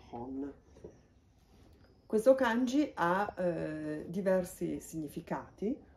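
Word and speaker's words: 本: La pronuncia di questo kanji è Hon.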